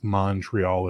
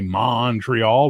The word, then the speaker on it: Montreal: the Montreal is I'm in Montreal which is how we pronounce it but we can always tell when you're not from here when you say monreal we go how you